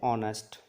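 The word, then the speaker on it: honest: हमने पहले पढ़ा था एन ऑनेस्ट मैन ऑनेस्ट एच था वहां लेकिन साइलेंट होता है आ की साउंड होती है इसीलिए एन का प्रयोग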